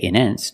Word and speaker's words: intense: I put the stress after the NT. So, I have to pronounce a T. I cannot say intense. No, it's intense.